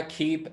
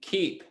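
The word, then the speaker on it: Keap: brought to you by keep athletics that's spelled k-e-a-p keep k-e-a-p stoker's phone these days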